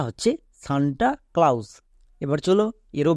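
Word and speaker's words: Santa Claus: একে আমরা ভুল করে বলার সময় এরকম বলি সেন্টাগ্লোস বাট এটা কিন্তু সম্পূর্ণ ভুল এর উচ্চারণটা হচ্ছে সান্তা ক্লাউস এবার চলো এরও বানানটা আমাদেরকে শিখতে হবে দন্তস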